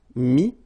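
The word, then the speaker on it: mis: Okay, then E-T-T-R-E will give you this E-S, but then you don't pronounce the S, so you get I. Mettre, mi, and then E-N-D-R-E, I-S, but then same thing here, the sound I.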